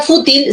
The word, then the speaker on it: fútil: aquí la palabra fútil la palabra fútil si se tilda porque es grave que termina en l ya está bien Audaz